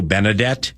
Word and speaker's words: Benedet: Okay, now I'm assuming the name is pronounced Theo Benedette. Is it Benedette? That's correct. Okay, that's correct.